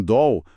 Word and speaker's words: doll: O L no final de sílaba inglês, tem essa qualidade mais escura, diferente do nosso L, que vira som de U, no final de palavras, como fácil Brasil. em Doll. O som do L tá bem presente ali.